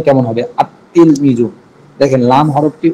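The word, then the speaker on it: التلميذ: আল তিল মিজু এমন না, আল তিল মিজু এমন হয় না, বরং আত্তিল মিজু। তা ধরবে, আলিফটা সরাসরি তাকে ধরবে, লাম বাদ পড়ে যাবে। লামটা লেখায় আসবে, উচ্চারণে আসবে না।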